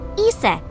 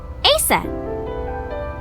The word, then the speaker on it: Isis: Horus's mom is named Isis, but in ancient Egyptian, it's pronounced closer to Ise or Aset.